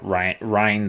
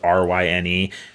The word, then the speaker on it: Ryne: Like, my son's name is Ryne. Don't call him Rin.